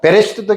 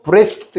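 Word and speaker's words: בראשית: 베라고도 읽고 브라고도 읽어요. 쉐와가 묵음으로도 읽어요. 그러니까 베레시트도 괜찮고 브레시트도 괜찮아요.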